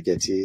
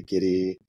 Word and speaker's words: Gitea: pronounces it differently uh I say gy some people say gidy some say gtia it's all acceptable I I don't mind